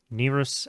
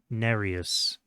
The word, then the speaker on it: Nereus: and find, and like there's 3 different pronunciations that seem kind of popular. So Nerus and Nereus are the two that seemed the most likely.